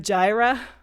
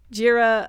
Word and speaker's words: Jira: um in the meantime we have Gyra Jira um my boss at Fiser um pronounced it gyra we have GitHub we